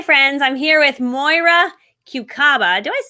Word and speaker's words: Kucaba: I'm like, wait, I think I've been saying her name wrong. Actually, Kucaba.